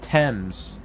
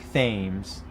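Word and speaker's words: Thames: or three more stops it's pronounced temps now why would it be called temps if it looks like themes dude I I've been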